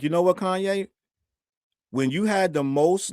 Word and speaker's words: Kanye: And you were just Kanye West and they couldn't even pronounce your name. Remember they were calling you Kane?